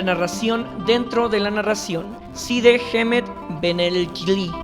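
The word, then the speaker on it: Cide Hamete Benengeli: Side Hemet Benelkili, como se pronuncia en árabe.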